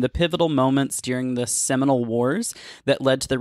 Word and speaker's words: Seminole: Seminole, not Simoleon.